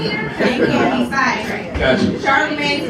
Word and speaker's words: Charlamagne: So I was like, oh shoot, I'm gonna start calling myself Charlamagne. And I spelt it with an A just because that's how I pronounced it.